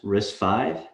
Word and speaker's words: RISC-V: with an introduction to risfy first off it is pronounced risk five and it started as